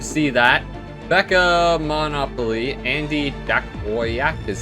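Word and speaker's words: Jankowiak: Becca Monopoly, Andy Dakoyak is how you say his name.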